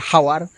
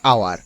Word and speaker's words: hour: দেখো HOUR, আমরা বলি কি হাওয়ার, হাওয়ার বলি না, আমরা বলি আওয়ার।